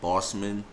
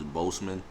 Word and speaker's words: Boseman: his last name because i look at it being said like bossman but some people say boseman so i think the correct way is boseman so i'm gonna say chadwick boseman for now on but